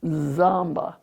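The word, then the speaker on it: tsampa: As we drank our tea and sampled the snacks, Dolma showed us how she prepares samba, pronounced zamba, the traditional Tibetan breakfast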